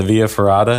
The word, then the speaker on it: via ferrata: extra yeah yeah yeah the via ferrata is that is that how am I saying it correctly yeah yeah so essentially you